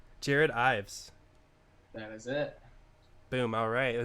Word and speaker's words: Ives: you say your name it's actually just eyes Jared Ives is it boom alright